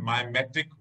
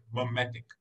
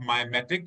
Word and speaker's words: mimetic: meaning of caloric restriction mimetic works. The pronunciation of this is mimetic, mimetic. It is not mimetic, it is mimetic, mimetic works.